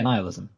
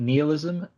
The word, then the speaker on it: nihilism: this word wrong okay I think it's a nihilism yeah nihilism okay that is right I think you could I think Neil ISM is actually a valid variant it was out was